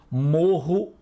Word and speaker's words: morro: Morro e moro. Carro e caro. O R de piorra, morro e carro é mais forte.